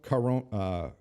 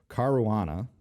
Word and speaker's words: Caruana: loss story goes on Fabiano car won't car wanna know I can't say this right Caruana there I said it right number two player in